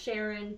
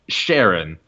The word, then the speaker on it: Charon: Sharon, Charon, Charon. Karen. I think you can do either one. Yeah, but the guy who discovered Charon officially calls it Sharon.